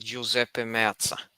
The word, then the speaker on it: Giuseppe Meazza: That is pronounced Giuseppe Meazza.